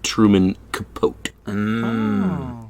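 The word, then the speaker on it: Capote: Truman from the show I believe it's pronounced Truman capot yeah um trumic capot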